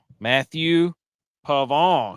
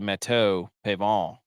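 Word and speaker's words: Matthieu Pavon: France a p pavon Matthew pavon who is actually on an absolute heater here the last like 15 EV actually pronounced meth the it's probably matau Pon matau Plateau likes cro C he's only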